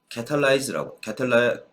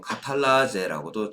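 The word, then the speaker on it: catalase: 여기에 캐탈레이즈라고 그러는데 어떤 책에서 보면 카탈라제라고도 적어놓습니다. 옛날 독일식 발음으로 적어놓는데 어쨌든 캐탈레이즈라고 하는 효소가 작용하면 이 과산화수소가 물과 산소로 분해되는 게 굉장히 쉽게 발생해요.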